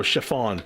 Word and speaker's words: chiffon: How do I spell it? I'll post the spelling of it in the chat. Oh, chiffon.